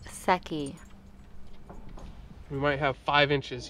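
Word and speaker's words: Secchi: this is my official Sochi disk Oh Publius it's pronounced sucky you might have five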